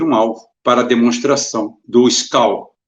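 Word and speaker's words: Шквал: alvo para demonstração do Skal, se escreve S-K-V-A-L, Skival, né? Skival, Skal.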